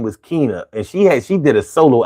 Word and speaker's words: Kina: Keena is spelled Kina.